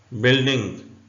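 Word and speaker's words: building: मतलब होता है रवाज बिल्डिंग य साइलेंट है बिल्डिंग का मतलब होता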